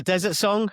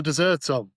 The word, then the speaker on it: The Dessert Song: 1, Episode 10, The Dessert Song. Or the Desert Song? I'm not sure. If it was possibly the Desert Song. It's called The Dessert Song. It is called the Dessert Song. You are correct. It's spelt that way.